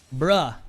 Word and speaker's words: Bruh: Bruh is definitely dominating here. You pronounce it like that, right? It isn't brew, it's bruh.